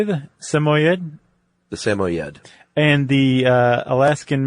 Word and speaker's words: Samoyed: It's not the easiest one just looking at it to pronounce. Would you say Samoyed?